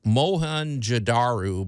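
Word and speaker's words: Mohenjo-daro: Uh, I I should spell it one more time because it's it's called moan jadaru, but the way it's spelled is m o h e n j o, and then the second word is d a ru.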